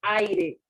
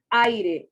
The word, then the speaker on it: aire: tenemos el ejemplo del aire y repito la pronunciación aire usted no dice a ir sino aire momento y como para